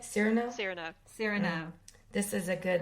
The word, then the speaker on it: Cyrano: so there's mine because i said serrano and what are you calling it cyrano cyrano this is a